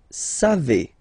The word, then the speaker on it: savez: Then vous savez. Classic ending for vous, E-Z, but then phonetically it's E.